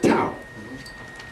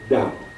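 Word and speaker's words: Tao: text it's spelled t a o it's not to It's pronounced da okay the da that can be named is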